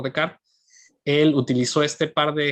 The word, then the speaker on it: Descartes: desarrolladas por pecar bueno se escribe descartes pero donde desarrolladas por de carl él utilizó este par